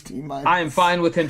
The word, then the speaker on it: Timinus: It's T minus. I am fine with him saying Timinus. No, it's T minus. It is. There's not a dash. It's an I. It doesn't. That's why it's spelled that way.